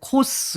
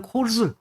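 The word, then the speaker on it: Coase: 코즈 정리가 바로 이 코즈라는 거 할 때 영어 발음인데 코스 뭐 어떤 이렇게 해놓고 어떤 분은 또 코우즈 이렇게 돼 있는데 일반적으로 그냥 코즈 이렇게 발음하면 좋습니다.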